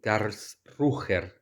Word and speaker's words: Karlsruhe: Iba hasta una ciudad llamada Karlsruhe. No sé si lo estoy pronunciando bien. A ver, voy a ver. Am, sí, Karlsruher.